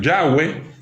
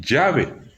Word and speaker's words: Yahweh: La letra Bab en el hebreo antiguo era Wap. Por eso algunos pronuncian Yahweh y otros dicen Yahvé o Yahvé, y que ahora es Bab. Por eso es Yahweh o Yahvé, según como lo estén nombrando.